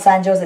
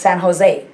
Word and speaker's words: San Jose: it's jalapeno so um remember it's not san jose it's san jose and i'm telling you